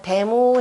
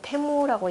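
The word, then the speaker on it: 大武: 태무라 그래서 주나라는 문덕을 가지고 대무 해놓고 그 다음에 읽기는 태무라고 읽게 되는 거죠.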